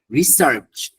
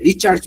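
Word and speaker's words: research: Anyway, তারপরে আরেকটা ভুল মানুষ করে, এটা দেখেন, এরকম মনে করবেন, রিসার্চ, রিসার্চের দন্ত এর পর তারপর চ আসে, এই দন্ত চ আর এটার যে এখানে নিয়ে আসছো।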